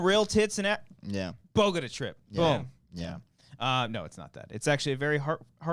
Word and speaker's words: Bogota: Oh, the film is called The Bogota Trip. Bogota trip. yeah. Bogota Trip. Excuse Yeah. me. I Um, butchered that. I was gonna oh. say Bogado Trip.